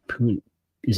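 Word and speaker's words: Puni: took off Dominic pun is it puny or puny I would guess puny puny like tiny check I have pronunciation notes if you'll give me a second I'll be happy to tell you P uni Tyron Hopper according to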